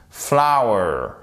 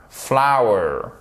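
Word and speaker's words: flour: premier c'est la farine le second c'est la fleur se prononce flower flower ok ça se prononce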